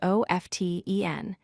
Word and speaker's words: often: The word often is spelled O-F-T-E-N, but many people say often without the T.